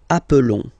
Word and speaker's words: appelons: Okay, nous appelons. And then little link would be perfect, so let's pronounce the whole thing again. Nous appelons. Nous appelons. Okay, final S doesn't exist.